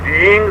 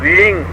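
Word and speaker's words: ह्रीं: हूं, इसमें पहला बीज रींग शब्द से संबोधित है। अर्ध हो अपने मन में बोला जाएगा, HREENG, रींग, रिंग नहीं है। मैंने HRING नहीं बोला है, REENG बोला है। RING बोलूंगा तो रिंग हो जाएगा, और ये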